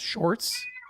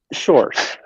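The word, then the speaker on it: Sjors: RS and that's pronounced shorts shorts uh yeah it's like saying George with a very Dutch accent oh I got it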